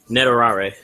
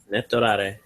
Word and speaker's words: netorare: Netorare. Netorare.